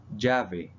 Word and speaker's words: llave: Ella, it is pronounced like a J. For example, llave Key.